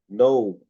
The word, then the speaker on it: gnome: নো। ঠিক আছে? দেখো, GNOME, নো। এই জি এর পরে এন আছে, এই জন্য জি এর জি সাইলেন্ট, কিন্তু এইটা থাকে।